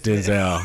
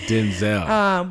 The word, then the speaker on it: Denzel: That's the correct pronunciation. His name is Denzel. I don't know. Black people gonna be like, no, his name is Denzel. I ain't changing it. It's Denzel.